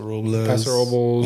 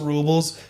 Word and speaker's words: Robles: are coming to Paso Robles. Can you recommend?" And like the number one thing people are saying, you cannot say Robles, and they spell it out Robles. You got to say Robles. Robles.